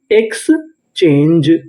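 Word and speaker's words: exchange: ई इसे पढ़ेंगे जा इंग्लिश का एक रूल होता है अगर आपको इंग्लिश के किसी भी मीनिंग के आखिरी में इ लिखा मिले तो हम लोग इ का उच्चारण नहीं करते तो पूरी meaning x चेंज एक्सचेंज एक्सचेंज का मतलब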